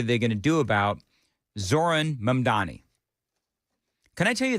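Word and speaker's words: Zohran: Lord, I know that if you just take the H out of the first name, you'll you'll look when you look at it, you'll be able to say it better.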